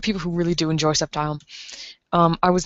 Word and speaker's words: Sceptile: saying that totally wrong i have heard people say septi i've heard sceptile i say it as sceptile i'm probably not supposed to pronounce that c i'm probably not supposed to pronounce it see at all um i have